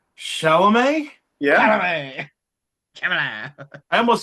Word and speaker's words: Chalamet: Chalamet. I almost said Shamala.